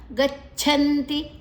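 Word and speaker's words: ಗಚ್ಛಂತಿ: ಅಧೋ ಧೋ ಮಹಾಪ್ರಾಣ ದೀರ್ಘಾಕ್ಷರ ಗಚ್ಚಂತಿ ಗಚ್ಚಂತಿ ಛ ಅನ್ನ ಗದ ಜೊತೆ ತಕೊಳ್ಳುವ ಛ ಮಹಾಪ್ರಾಣ ಅಡಿಯುತ್ತಿದೆ ಅಲ್ಲಿ ಗಚ್ಚಂತಿ ನಂತರ ಅನುಸ್ವರದ ಉಚ್ಚಾರಣೆ ಮುಂದಿನ ಅಕ್ಷರ ತಿ ಇದೆ ತಾಮಸಾಹ ತಾಮಸಾಹ ಮತ್ರ ಹೃಸ್ವ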